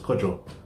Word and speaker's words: Kojo: I keep calling him Kojo. It's Kojo. Get me? I know. I'm not Ghanaian, but I know how to pronounce the name properly.